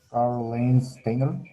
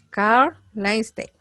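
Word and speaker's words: Karl Landsteiner: Y como les dije, en el año 19, este señor que se llama, ¿cómo se pronuncia? Carl Landsteiner. Carl Landsteiner.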